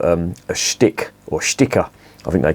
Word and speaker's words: Sticke: the ethanol and if you try the uriga stick or sticker as it's pronounced that that literally translates to the local